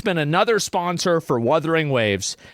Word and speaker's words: Wuthering: been another sponsor for Wuthering Waves. And he calls it every single time Wurthering Waves. That's not how you say it. That's never been how you say it. Stop saying it like that. Wurthering Waves.